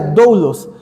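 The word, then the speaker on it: δοῦλος: La palabra que encontramos aquí es una palabra que se pronuncia doulos, que significa esclavos por pertenencia total.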